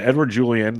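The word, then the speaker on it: Edouard Julien: last week so I know that's how you pronounce that one uh Edward Julian the second baseman for the twins Big Time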